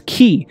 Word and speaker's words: chi: the ancient greek alphabet pronounced as as key and it literally means